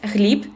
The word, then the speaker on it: Hlib: Uh my name is Hlib. It's spelled as H L I B.